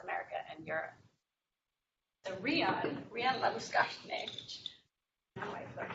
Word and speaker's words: Labuschagne: So Rian Labuschagne, which now I've learned how to pronounce, he manages FZS's Serengeti Conservation Program in Tanzania.